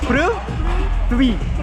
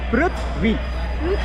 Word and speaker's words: Prithvi: Prithvi. With the V. Three. Yeah. Prithvi.